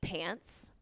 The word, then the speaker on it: Pance: But yeah, that was it wasn't like pants like I'm wearing pants. It was pants that rhymes with Nance. and everyone called me P-A-N-C-E.